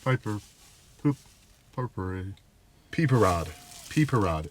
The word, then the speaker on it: Pipérade: peper rod peper rod it's spelled p i p e r a d e so youd think piperade it's got a little accente goo or whatever you want to call that over the e but it's peeper Rod